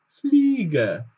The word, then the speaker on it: Fliege: Hier müssten wir auch wieder wissen, dass IE als I ausgesprochen wird. Also dieses I wird lang ausgesprochen. Das E verlängert uns praktisch das I. Also noch einmal hier oben die Pflege und die Fliege.